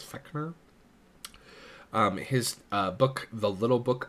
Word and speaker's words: Fechner: This is Gustav Theodor Fechner. I think that's how you say it, is Fechner.